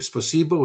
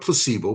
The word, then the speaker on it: Спасибо: Spasibo, is that, I say the right word? a Спасибо. big placebo, not placebo, but bus.